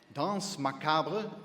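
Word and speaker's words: Danse Macabre: Dance Macabra, as it's pronounced, is the successor to our classic spokes lot, Haunted House.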